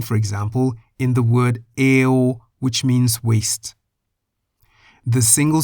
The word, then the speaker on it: เอว: The final consonant is wo wen, which sounds like a W as an initial consonant, but sounds like an O as a final consonant. Eo.